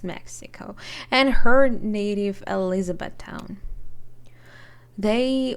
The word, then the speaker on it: Mexico: Is it pronounced Mexico? No. It's Mexico, and her native Elizabethtown.